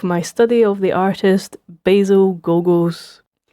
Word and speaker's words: Basil: study of the artist Basil Gogos. Now, I would pronounce this basil as a Scottish person, but every interview or anytime I've heard anybody talking about them, they pronounce it basil.